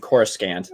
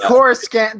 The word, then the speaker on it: Coruscant: version mine is, but he says Palpatine and Coruscant. Yes, Coruscant. They will always say Coruscant, but it's really annoying. I read the unabridged version. Well, they will always say Coruscant, but I was just playing SWTOR where they pronounce it Coruscant.